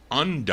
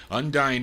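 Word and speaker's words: Undine: uh is it un how is it you undy I think that's how you pronounce it u n d i n e undy Harris Jimmy Huff uh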